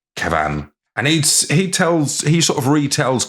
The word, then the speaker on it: Kevan: It's Kevin with an A instead of an I. So I presume that's... Oh. I assume it's pronounced, he's got a bit of a hit on it rather than just Kevin. Kevan.